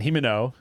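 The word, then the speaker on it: Himeno: sword because he wants to use it and himino is that how you say it yep remember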